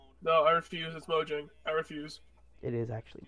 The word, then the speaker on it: Mojang: HDR in Minecraft wha mo yang that's the actual pronunciation no I refuse is mojang I refuse it is